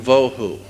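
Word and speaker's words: בהו: The two Hebrew words that are being translated there is tohu and vohu. Pronunciation, it would be T-O-E-W-H-O, tohu.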